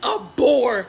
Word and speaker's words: abhor: I want you to violently abhor men. You need to hate them. Like, it's actually abhor is the correct pronunciation of that word.